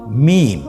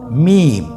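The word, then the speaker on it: ميم: মিম। হরফটির নাম কি? মিম। মিম হরফটি উচ্চারণের ক্ষেত্রে অবশ্যই বারিক হবে, পাতলা হবে এবং 3 আলিফ টেনে উচ্চারণ করতে হবে। আমার সাথে আরেকবার চেষ্টা করুন। মিম।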